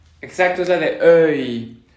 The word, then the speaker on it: œil: Estamos haciendo la boca en forma de O abierta, pero pronunciamos E. Para hacerlo, la lengua queda como en una cuenca. Exacto, es la de œil, sœur, cœur, cœur.